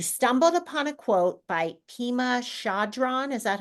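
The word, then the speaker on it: Pema Chödrön: You stumbled upon a quote by Pema Chodron. Is that how you say her name? Yes, it's Pima Chodron.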